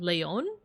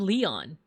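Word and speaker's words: Leijon: Leon. Is it Is it Leon? Because like it's got the J, but I feel like it's like the European J.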